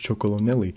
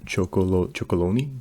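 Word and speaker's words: Chocolonely: Just like Tony's Chocolonelli. Oh wait, MrBeast, he can't even pronounce this correctly. He just says Chocoloni. Like, that's what he mentions.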